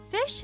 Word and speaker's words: phish: Fish is pronounced just like it's spelled, which is to say like the word fish.